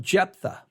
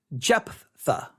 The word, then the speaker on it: Jephthah: with a very disturbing story the story of jephthah and if you that name is spelled j-e-j-e-p j e p h t h a h japtha all right jetha jephthah illustrates the foolishness of